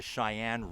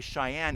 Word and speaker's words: Sheyenne: and by the way Cheyenne is not spelled the way you probably think it's spelled uh we're all familiar with c-h-e-y in North Dakota Cheyenne is spelled with an s s-h-e-y-e-n-n-e but the Cheyenne River